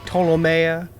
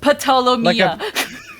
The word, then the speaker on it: Ptolomea: I am going to charm person the Ptolomea 1. I know Ptolomea, the P is silent. Ptolomea. Like a pterodactyl.